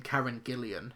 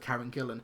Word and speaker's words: Karen Gillan: So but but it's interesting seeing critics and and stuff online pronounce her name Karen Gillan instead of Karen Gillan.